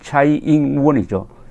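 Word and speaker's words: 蔡英文: 지금 최영문 현 대만 대통령, 그 현지 발음으로는 차이잉원이죠.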